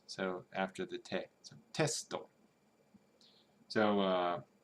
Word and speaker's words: テスト: So test, which syllable do you think the accent drops on, if at all? Testo. So it's testo.